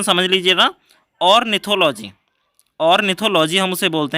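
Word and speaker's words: ornithology: क्या बोलेंगे, प्रोनाउंसिएशन समझ लीजिएगा, ऑर्निथोलॉजी।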